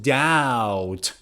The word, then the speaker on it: doubt: ability as a teacher i don't doubt not doubt i don't doubt my ability